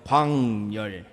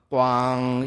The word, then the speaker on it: 광열: 제 이름이 또 특히 어렵거든요. 광열. 발음이 안 돼요. 자기들 발음에 이게 없어요. 그래서 주일날 만나면 늘 그걸 기억을 못하니까 꽝 이러면 제가 열 이래가지고 그렇게 겨우 친해졌습니다.